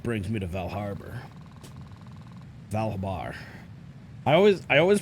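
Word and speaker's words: Val Habar: r before the b it's valhabar not val harbor but i've always said val harbor for some reason it's like it's like one of those like words that tricks your brain i'm looking to recruit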